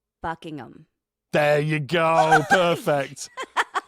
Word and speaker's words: Buckingham: I'm going to Go easy on the H. Buckingham.